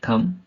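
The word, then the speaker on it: thumb: एम बी बम टी एच यू एम बी थम डी यू एम बी डम है ना डम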